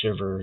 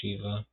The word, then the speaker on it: Shiva: english language but because if it sounds like shiver it's not actually weird um but the original pronunciation is shiva uh yeah so they